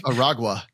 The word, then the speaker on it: Aragua: I think it's Aragua.